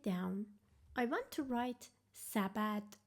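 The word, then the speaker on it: سبد: I want to write sabad how many syllables does it have sabad it has two syllables the first syll is sa how to write sa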